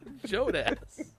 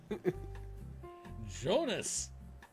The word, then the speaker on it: Jonas: Jonas. That's not his name. Jonas. Put some way too much emphasis on the first syllable and nowhere else to go.